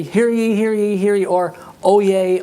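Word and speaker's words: oyez: here here here or O Yay O Yay O Yay which by the way is spelled o y e z and I think it's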